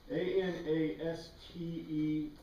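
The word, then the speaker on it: ἀνίστημι: Anastemi, anastemi. Anastemi. The pronunciation is EM sound.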